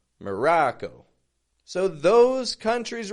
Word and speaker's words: Morocco: few friends listening Ino Maro putting awah in the beginning M the ra a short o sound ra real strong and then Co Co quick fading tense o o Morocco so those countries right